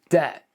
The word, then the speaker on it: debt: Number 20, debt. Just remove the B and this makes a lot of sense.